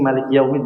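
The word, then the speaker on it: مالك يوم الدين: Di sini maliki yaumid berarti wawu ya. Linnya wawu berarti dimonyongkan. Maliki yaumiddin.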